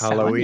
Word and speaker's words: Samhain: pronounced Samhain, yeah, for Halloween.